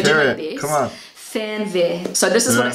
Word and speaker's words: Fernweh: This word is actually really hard for native English speakers to pronounce. I'm going to do my best. Come on. Fernweh.